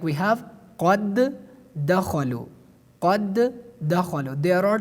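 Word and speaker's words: قَدْ دَخَلُوا: the second letter, like we pronounce it based on idgham, qad dakhalu, qad dakhalu.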